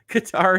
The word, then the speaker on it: Qatar: pronunciation points here is it Qatar or is it cater help me out I will I will say it however you all like uh Qatar is what they want um uh okay look I'll pronounce it however you like folks um if if that is correct if you you're you're telling me that I'm more than happy to do it guitar is correct okay we'll see if